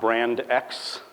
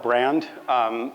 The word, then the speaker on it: BRXND: question a lot, which is, how do you pronounce this? It's not brand X. It's not BRXND. And it's not BRXND, which is like by far my least favorite of them. I just call it brand.